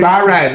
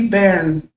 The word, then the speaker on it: bairn: Maybe we're saying it wrong. Say, you wee bairn, so cute.